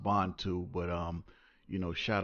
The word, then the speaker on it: Bantu: especially a Bantu all right uh it's actually pronounced bondtube but um you know shout out again to